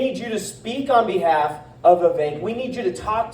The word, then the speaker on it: Vivek: He says it rhymes with Jake, and I appreciate that.